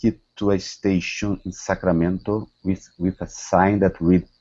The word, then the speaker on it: Sacramento: Here, instead of Sacramento, okay, give me a good R. Sacramento. Sacramento.